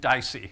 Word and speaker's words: DICE: I'm going to pronounce it DICE, which happens to be Latin for to be said, which is not why I chose it.